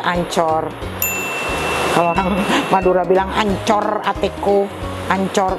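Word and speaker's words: Anchor: Kalau orang Madura bilang ancor, atiku ancor, tapi memang ini namanya ancor kita bacanya ya, ancor atiku.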